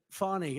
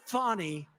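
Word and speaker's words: Fani: they have no shame but think of the fawny it's F an I but they pronounce it funny how do you could would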